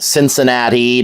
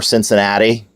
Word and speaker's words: Cincinnati: and by the way we do not we pronounce it Cincinnati nots Ensenada although some people over 80 around